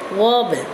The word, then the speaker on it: warble: Next word is warble. So the stress on the syllable war and sound is long sound, right?